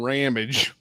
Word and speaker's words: Ramage: Unoriginally or not, his name is Brian Ramage, which rhymes with damage.